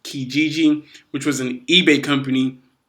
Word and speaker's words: Kijiji: Before that, he had marketing roles for a company, I believe it's pronounced Kijiji, which was an eBay company.